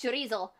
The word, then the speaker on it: chorizo: it's good of course when i say charisse nobody knows what i'm talking about because that's just how you say it around here it's chorizo i still don't know